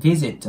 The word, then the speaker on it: visit: 「visit the grave」の場合、まず「visit」の「v」の音は、上の歯を下唇に軽く触れさせることで発音するので、「visit」となります。